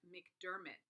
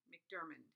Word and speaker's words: McDormand: screen so you can see Frances Merck Doug McDermott McDormand I only say her name wrong why why Frances I'm so sorry I